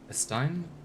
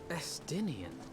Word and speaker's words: Estinian: Estein? Estinian.